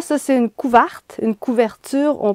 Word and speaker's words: couverture: Ah oui, puis je voulais vous dire que pour moi, ça, c'est une couverte, une couverture. On prononce souvent couverte.